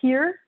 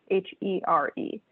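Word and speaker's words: hir: long e and uh here and those forms appear are typically pronounced like the english word here h-e-r-e so z here z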